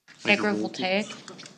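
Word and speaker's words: agrivoltaic: So, Amelia, in your draft ordinance here, you talk about, can you repeat how you pronounce that again? Agra Agra Voltaic.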